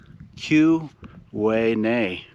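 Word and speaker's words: Tyuonyi: area here is called The Quay Q Way NE peblo oo Q peblo yeah if you look at the actual spelling you would never pronounce it that way exactly another yeah another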